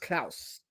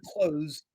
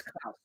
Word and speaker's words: Clowes: Yeah, his name is pronounced Claus. I I fact checked it. It's not closed. It's Claus.